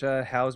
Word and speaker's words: Howl: you should go and watch Howl's Moving Castle if you like Spirited Away. I'm going to write all of these How do you down. spell that? Howl, like howling.